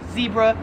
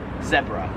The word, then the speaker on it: zebra: animal right over here i would pronounce this american to pronounce this as zebra however in australia they pronounce it zebra 29 is mobile mobile